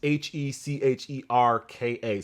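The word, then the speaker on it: hčerka: and the Dot 77, and then this the Hikerka, I believe that's how you say that. So Luca Dončić is honoring his daughter with this colorway. It's Hikerka, I believe, which is Slovenian for daughter. It's pronounced Hecherka, so I think that's Hikerka.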